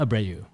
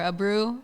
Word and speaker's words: Abreu: the jam cast abreu hello what's up what's the proper way to say your name uh or abreu or a brew if if i know